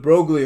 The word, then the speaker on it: Broglie: In French, the G, the L, the I, and the E are silent.